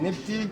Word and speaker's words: Nepti: Et une abeille, c'est un mot prononcé Nepti. Nissout, Nepti, ça veut dire la haute et la basse.